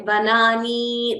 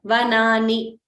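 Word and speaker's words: वनानि: So note that the last letter is Hrasva. So we shouldn't say Vanani, that would be wrong. While pronouncing itself, we should clearly pronounce it as a short letter. Vanani, Jnanani, Kamalani, Pushpani, Chatrani.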